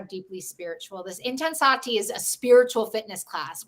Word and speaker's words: Intensati: And then she's also hosting virtual, I'm hoping I pronounced this right, Intensati classes. Yes, Intensati.